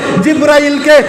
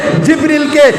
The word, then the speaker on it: জিবরিল: আমার অধিকাংশ আলেমরা এই প্রোনাউন্সিয়েশনটা তারা ভুল করে, হাজারা বলে জিব্রাইলকে, জিব্রিলকে জিব্রাইল বলে, মিকাইল মিকাইল কয় এই শব্দগুলো ভুল।